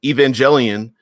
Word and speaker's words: Evangelion: the the even in Evangelion note pronounced with a hard G Evangelion I didn't know that